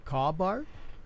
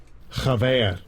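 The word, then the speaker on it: חבר: Kabar. Chabar. Okay. Strong's I H guess. 2266. Chaver. Chaver. Chaver. Oh, okay. I was off a little bit, but so coming down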